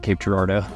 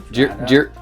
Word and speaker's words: Cape Girardeau: also side note um none of us knew how to pronounce Cape Gerardo whenever we started this trip so we said a lot of things that were not Cape Gerardo jado Jero gerado you need to turn